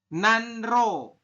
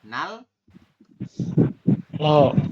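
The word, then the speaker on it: 난로: Ini tulisannya adalah nanro. Ya, tulisannya nanro, tapi kita bacanya apa? Nal. Oh. Iya, nalo seperti ini.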